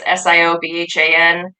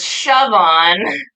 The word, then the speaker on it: Siobhan: is spelled, and it's Siobhan. It is not Siobhan, it's not Stephen, it's not Chevron, it is Siobhan.